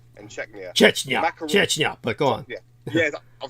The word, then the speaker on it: Chechnya: Moscow has sent troops into Georgia and fought 2 wars in Chechnya. Chechnya, but go on.